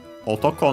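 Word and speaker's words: 男: Otoko, male, accent on the last syllable.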